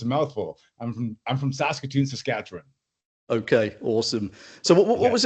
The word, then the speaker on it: Saskatchewan: No, it's so what was it like growing up in Saskatchewan? Am I pronouncing that correctly before I carry on? Is that the right way of saying it? Yeah. Impressively, you're doing really well.